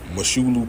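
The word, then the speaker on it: Mosholu: Moshulu Parkway, straight like that. I don't know no other way to fucking say that shit. You not from New York if you say it any other way.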